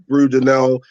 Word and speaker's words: Brudenell: All right, so I am here with Rhys Brudenell. Have I pronounced your last name correctly?